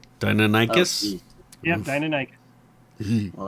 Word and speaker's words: Deinonychus: I can't even pronounce it right. Dionychus. Deinonychus?